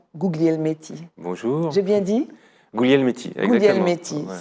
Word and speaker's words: Guglielmetti: Guglielmetti, exactement. Guglielmetti. Ouais. Ça s'écrit Guglielmetti et c'est Guglielmetti. Voilà, à la française, c'est Guglielmetti, oui. Mais à l'italienne, à l'origine, c'est Guglielmetti.